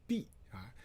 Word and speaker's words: 泌: Okay, and so that's 秘 Now this character has a second pronunciation called 必 Now when you pronounce as 必 that's used in naming places. Okay, 有碧河 in Henan province. and 碧阳 County 碧阳县 is in Henan province. Okay, and so just you know that's if it's used in a name for a places or river, you need to pronounce 碧 not me.